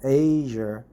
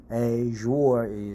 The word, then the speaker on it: Azure: Asia I don't know but many people say Azure uh I prefer to pronounce it Asia uh but Indians pronounce here a uh which is a little bit strange pronunciation but aure aure is correct pronunciation uh theoric oh as a